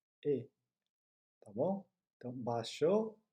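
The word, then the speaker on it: へ: Se você sabe hiragana, está vendo que aí está escrito um re. Mas quando é uma partícula, a partícula que indica a direção para a qual a gente vai, se pronuncia e, tá bom?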